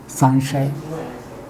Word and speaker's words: संशय: और एक और वर्ण बचा श, तो मैंने लिखा सम, फिर लिखा श और फिर य, संशय, यानी यही उच्चरित होगा संशय।